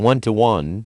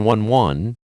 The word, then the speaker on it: One:1: internet let's start with the name which is meant to be pronounced as a ratio as in one to one rather than 11 it refers to both